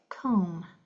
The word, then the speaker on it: comb: Last one is an MB. You only hear the M. So that one you hear the first letter, not the second one, as in lamb or comb.